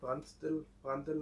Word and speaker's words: Prandtl: Is it Prandtl number? Because you said it's how to pronounce.